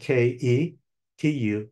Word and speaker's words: Ketu: When the moon is next to the south node, called the dragon's tail in Western astrology and called Ketu in Sanskrit, that's spelled K-E-T-U, Ketu, then a person tends to be much more introspective, much more withdrawn, antisocial.